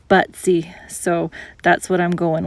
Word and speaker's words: Butze: never been here before I was told that the locals pronounce it but see so that's what I'm